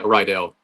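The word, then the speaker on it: Riddell: would have been the do you pronounce it Rydell or Riddle? But it's a maker of the American football helmets. Oh yeah, Rydell.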